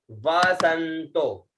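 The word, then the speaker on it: वसन्तो: उसके बाद में आता है वसंतो, डबल व है, स आधा न और तो, ठीक है, वसंतो, वसंतो।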